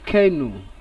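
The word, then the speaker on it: canoe: The given word here is pronounced as kenu, not kenu as people pronounce it, and letter E is underlined, kenu. So the letter E sound as u, long u takes long u pronunciation.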